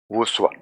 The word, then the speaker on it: voussoir: This means these are arch based on the technology using voussoir. Pronunciation is voussoir.